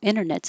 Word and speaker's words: internet: Oh, internet's another good example of the t can drop internet because it's not in the stress syllable and it's after an n.